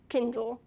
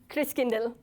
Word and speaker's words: Christkindl: Kindle. How do you say it? Christkindl.